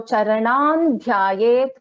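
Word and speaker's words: चरणं ध्यायेत्: So as I said, in this case, the fifth letter of the varga is na. So Charanan Dhyayet Paramambikam is the correct pronunciation.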